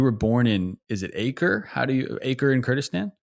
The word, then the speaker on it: Akre: So I might pronounce it incorrectly, but you were born in, is it Acre? Acre in Kurdistan? Akre.